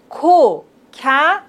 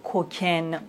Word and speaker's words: cocaïne: Voici un autre exemple. Cocaïne. Vous voyez, on doit prononcer le A et le I séparément. Cocaïne. On ne doit pas dire cocaine, non. Cocaïne, cocaïne. Naïf, Noël, Raphaël, héroïne, aïe